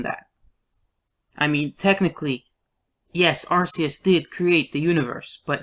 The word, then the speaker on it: Arceus: you may think that RCS or however you pronounce this name although I pronounce it Arceus um created the universe